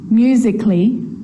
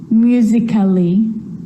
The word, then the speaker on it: musically: with the letter A now the letter A can be silent especially in words that end in a ll Y like these romantically musically logically so I'm not pronouncing romantically musically and logically cut the a out